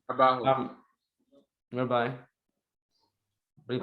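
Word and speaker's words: Abbahu: Which Rabbi Ahabu, is that how you pronounce his name? Abahu.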